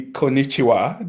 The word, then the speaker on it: konnichiwa: in Japanese, which I found out to be konnichiwa. Did I say that right? Perfect. Uh, Actually, that's perfect pronunciation.